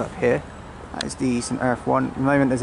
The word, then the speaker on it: St Erth: St Ives, I'm going to say it right, St Erth tea room.